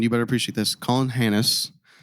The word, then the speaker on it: Hanus: Colin Hannes. It's spelled Hanus, and that's all I'm going to say.